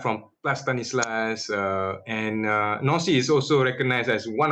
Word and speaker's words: Nancy: in the city in the region its name no see okay it is spelled like Nancy but the pronunciation is actually nasty so you can very nice some overview for building on see you have a very nice view of Plus